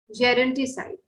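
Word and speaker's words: gerontocide: तो एल्डर्स की किलिंग करना या उन्हें मरने के लिए छोड़ देना, तो उसे आप बोलेंगे जेरोंटिसाइड, ठीक है। ये ज प्रोनाउंस किया जाता है।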